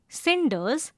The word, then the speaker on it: cinders: That is why cinders is pronounced with a s sound.